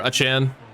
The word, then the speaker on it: Achane: but that's okay, as Achane picks up the first down. It's allegedly pronounced Achane, but or Achane. We're going Achane.